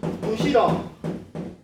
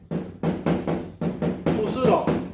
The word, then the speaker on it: 부스럭: 그 다음에 부시럭 부스럭 부시럭거린다 부스럭거린다 스럭이 맞아요.